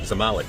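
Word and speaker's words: Zamalek: I think you pronounce it Zamalik. I was saying Zamik, but Zamalik or something like that.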